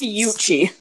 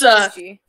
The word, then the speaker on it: Fuchi: It's pronounced Fiu. Pronounce How what? you say it, Kit? It's pronounced Fiuchi. Wait, that's what I thought. Fuchi. It's Fuchi. Can I tell them the backstory behind the name?